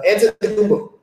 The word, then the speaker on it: Antetokounmpo: They got the Greek Freak, who's the black dude that's like 6'9", like Antetokounmpo. That's how you pronounce his name.